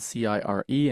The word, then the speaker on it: cire: It's spelled C-I-R-E and it's pronounced cire, like S-I-R, cire.